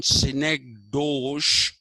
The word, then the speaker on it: synecdoche: term s-y-n-e-c synec d-o-c-h-e ducky okay it's written synecdoche but it is pronounced synecdoche where you confuse a part with